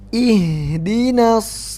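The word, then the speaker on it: اهدنا: Banyak yang baca gini. Ingat dina Nah, ini imalah namanya. Nah, di sini enggak ada imalahnya. Jadi bukan ya, bukan ya. Tapi dibaca kasroh i. Bukan tapi i. Ihdina.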